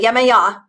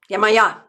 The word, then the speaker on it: Yamaha: pronounced it that way yamaha and i looked it up today and got like three different audio references that put the syllable uh the hearts the accent in the middle so it depends yamaha anyway she never said